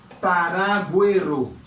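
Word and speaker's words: paragüero: Par contre, le moins gain dans mot ça, par exemple moins gain là, nous prenons que U ça li prononcer. En allez. Moins gain paraguero.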